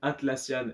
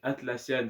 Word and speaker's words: Atlassian: On attaque le top 3 avec l'action Atlassian RG-A. Donc Atlassian, ça s'écrit comme ça se prononce, pardon, A-T-L-A-2-S-I-A-N, plus loin RG-A.